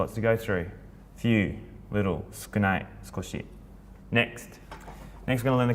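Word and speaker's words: 少ない: So sukunai or skoshi, like more skoshi, it's gonna have a little bit more.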